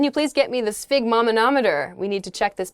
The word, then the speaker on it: sphygmomanometer: believe it what a sphygmomanometer sphygmomanometer an instrument for measuring blood pressure this is a new one for me - Spig mah manometer is this word isn't